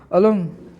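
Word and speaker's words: অলম্: Next আছে অলম, অলম ম, দেখো হলন্ত রয়েছে, উচ্চারণটা একটু ডিফারেন্স হবে।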